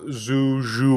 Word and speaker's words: Zhu: So I know people call him Zhu. What's the right pronunciation? Zoo. Yeah.